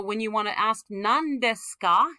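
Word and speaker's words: 何ですか: That ni is going to collapse to the liquid sound n. This is a whole syllable. So when you want to ask nan desu ka, it's never nani desu ka.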